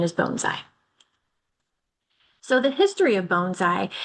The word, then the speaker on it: bonsai: And it is pronounced bonesai. I know I say bonsai a lot, but the the correct pronunciation is bonesai.